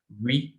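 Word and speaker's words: oui: We. Yes, in French it is we. Or no in French it is no. We know. मतलब ऐसे जो English में we लिखते हैं ना, तो ऐसे प्रोनाउंसिएशन है इसकी.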